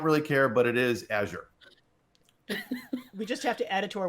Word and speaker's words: Azure: It's built on Azure. See, I just said it wrong. Azure.